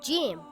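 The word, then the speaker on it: جيم: this letter is called Jim it is a light letter and should not be pronounced heavy in English it sounds like the letter J in the word gem or the word jog it is not pronounced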